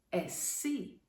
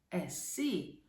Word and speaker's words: εσύ: Second person, εσύ. Stress, εσύ. This letter that looks like a U, remember, it's Y. It's pronounced like E most of the times.